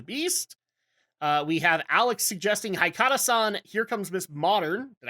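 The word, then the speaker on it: Haikara-san: We have Alex suggesting Haikata-san, Here Comes Miss Modern.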